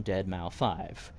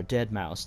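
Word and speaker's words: deadmau5: a musician based on dead mao 5 or dead mouse depending on how you pronounce it he's also the most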